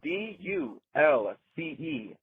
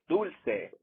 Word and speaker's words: dulce: It bothers me so much when people mispronounce the word dulce. That's d u l c e. Dulce. It is not dulce.